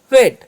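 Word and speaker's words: wait: तो पहले वाले वोवेल्स से ए का उच्चारण करेंगे और आई का नहीं करेंगे तो होगा वेट।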